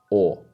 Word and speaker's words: o: This sound is the simplest one of all the simple finals, and it's pronounced like the AWE in awesome. Or.